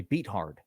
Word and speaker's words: Beathard: You know how many times people keep writing in on the comments that Beat Hard is actually pronounced Beathard?